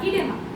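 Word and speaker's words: edema: আমরা যদি বায়োলজিক্যাল টার্মে বলি সেটাকে বলা হয় ইডেমা বা ইডিমা। এরকম উচ্চারণটা করা হয়।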